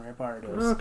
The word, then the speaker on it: Rampardos: Yeah, I was saying it right the first time, Rampardos.